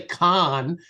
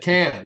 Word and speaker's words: Cannes: And, he corrected my pronunciation of the Cannes Film Festival. I think I was trying to say Cannes, and he said Cannes, and he's a Francophile.